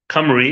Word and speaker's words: Cymru: Camry which is spelled opposite of the vowels opposite way around is cymru instead of CU m ry camry is welsh spelling radio ramadan camry I'm gonna be taking